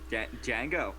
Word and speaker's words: Django: okay never mind just uh rhymes with Dango Dango Django Django and dude that's a